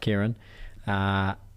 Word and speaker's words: Kyran: Spelled Kyran, pronounced Kyran.